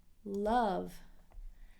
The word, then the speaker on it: love: love to and remember this is not an O sound it is a short you a love they love to run